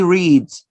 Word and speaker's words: reads: This letter S is pronounced here as the sound Z.